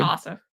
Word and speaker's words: Ossoff: Ossoff.